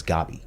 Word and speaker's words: Gabi: And I think right off the bat, Gabby, or they pronounce her name as Gabi, Yeah.